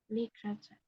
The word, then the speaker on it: literature: give me a second it's l CH cha literature literature literature it's not pronounced be careful it's not pronounced literature now now okay it's lra ch ch or if you want more American accent you can say literature CH if you want it's fine the important thing is that it's like ch ch this is the important thing okay Le TR CH three syllables yes literature very well